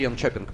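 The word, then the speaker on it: Jönköping: Ну, вообще, Йончопинг произносит шведы, вот как мне сказали.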